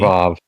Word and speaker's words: Vav: Also, I do notice that he's going with the W value for Vav, which is fine by me. Vav. Yeah. I mean, there are Sure. still communities where that's the standard pronunciation for that letter.